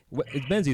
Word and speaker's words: Menzies: box fan willly menes is men's right is how you say your last name dude yeah yeah absolutely